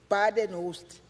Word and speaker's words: Badenhorst: Badenhorst. Thank you, Chair. Badenhorst. Horst. Okay. My apology for pronouncing your Chair.